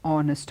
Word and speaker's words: honest: my mother is a honest woman but no because H is silent we take the word